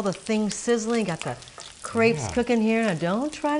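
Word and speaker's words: crêpe: duels I don't know my daughter is always saying it's not crepe Mom it's crep crep yeah almost ready you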